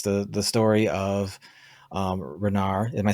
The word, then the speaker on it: Renar: So with Savage Wizard one, it's the story of Renar.